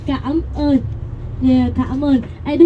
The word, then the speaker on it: cảm ơn: But a little bit pronunciation going to say cảm ơn.